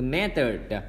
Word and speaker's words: method: Rồi, từ method, cái từ method chúng ta nhớ là cái âm short y nè, mé âm đọc giống chữ e ha. Third thì cái âm thứ hai là âm schwa sound, và đây chúng ta để ý cái âm th ra để lưỡi hàm răng ha.